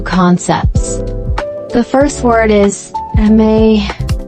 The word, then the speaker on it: amae: The first word is amae, pronounced ah-mah.